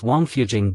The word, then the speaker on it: Wangfujing: of the few with sweet tasting water the pronunciation of well in Chinese is Jing and thus Wang fujing gets its name both the complete map of